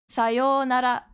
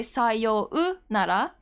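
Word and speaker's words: さようなら: For example, sayonara, sayo, when you say this, you don't say sayou nara. It's just a long version of yo, sayonara.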